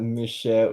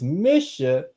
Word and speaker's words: Mishael: It's not Michelle, it's Misha. We got, oh my God.